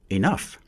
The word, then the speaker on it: enough: For example, there are many different pronunciations of O-U-G-H. Ought, through, enough.